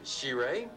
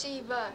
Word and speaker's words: Sheba: Well, hi there, She-Ray. That's real pretty. Is that how you say it? It's close. It's Sheba.